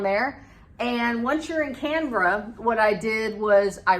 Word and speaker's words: Canberra: which is, if you read it, it's called Canberra, it looks like it is, but it's actually Canberra is how it's pronounced.